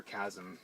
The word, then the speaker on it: chasm: but we fall into this chasm over here or chasm that's the h is not pronounced and get rid of